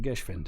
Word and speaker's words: Geschwind: love you guys, but you pronounced Geschwind wrong. And so, and I'm like, shit. So I go look it up, and I'm hitting play, and it's like Geschwind.